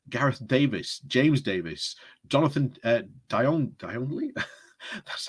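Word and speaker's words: Djanogly: Crosby, James Daly, Gareth Davis, James Davis, Jonathan Dionley, that's how you say it, Ruth Edwards, Nigel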